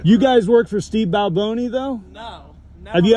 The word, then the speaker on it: Balboni: yeah like we you guys work for Steve Balboni though no no have you ever you never heard what name whatever you just said yeah guys don't respect the boss it's Steve Balboni let me hear you say it there you